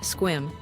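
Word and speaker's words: Sequim: Our final day reveals the Olympic Peninsula's surprising diversity with a visit to the lavender farms of Squim, pronounced Squim.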